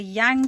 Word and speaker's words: yang: Do you know how I used to remember what yin and yang were? It's so fucking... yang rhymes with wang, so it's the male aspect.